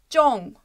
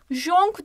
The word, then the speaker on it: Jong: Bunu böyle Latince'de ya da İngilizce'de C sesi bazen K gibi okunabiliyor ya. O yüzden onlar J'yi kullanıyor. Halbuki biz buna Türkçe doğru okumak istersek Jong diye okumayacağız. Jong. Jong. Gerçekten de bu C sesiyle okunuyor.